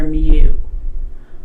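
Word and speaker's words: μ: something like this it's it the Greek letter mu or mu X all right so I'm just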